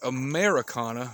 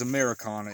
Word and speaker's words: Ameraucana: you on the screen americana has no eye in it if you see anybody selling chickens or advertising americana chickens and it's spelt like america with an eye it's spelled wrong there is no such breed as americana it's spelled you know like i showed you a-m-e-r-a-u-c-a-n-a so kind of be aware